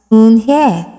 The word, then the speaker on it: Unhei: "Yes, it's pronounced Unhei, and it means grace," Mr.